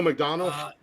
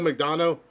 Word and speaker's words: McDonough: your name again mcdonald mcdonald mcdonough donald it's spelled different it's not mcdonald but uh but he